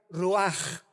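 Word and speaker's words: רוח: la palabra hebrea rua con ch al final que se pronuncia ruaj que se traduce espíritu. Entonces, la palabra espíritu, roaj en el hebreo, se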